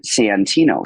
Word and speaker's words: Santino: so now I've started like really like enunciating Santino so people like oh that's an a not